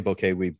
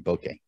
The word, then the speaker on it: bokeh: When we say bokeh, we put the emphasis on the bow. They would put it on the case. So it would be bokeh is how they would say it. So we say it wrong according to them, but it doesn't matter.